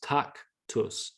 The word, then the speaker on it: tactus: the tactus and you they literally use those two syllables tak tus tak tus down up we can